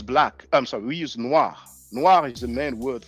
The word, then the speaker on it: noir: Whether it's masculine or feminine, it is pronounced the same.